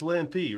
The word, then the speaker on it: Lampe: main one over under how many announcers are gonna pronounce his name wrong lamp lamp I've heard a lot of them throughout the years it is lampy right it's lampy yeah yeah so that's what